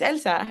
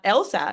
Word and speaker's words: Elsa: like tell people like no my name is Elsa not Elsa you know so I've